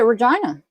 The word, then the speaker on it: Regina: She actually pronounces it Regina. We She has told us that her mom named her that and that's how it's pronounced.